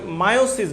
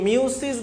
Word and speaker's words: মিওসিস: এই মিওসিস এর নতুন উচ্চারণ করা হয় মায়োসিস বলে। তো মিওসিস বা মায়োসিস।